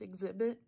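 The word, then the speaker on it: Xzibit: i b t um his name is pronounced exhibit it follows the host exhibit as he pimps people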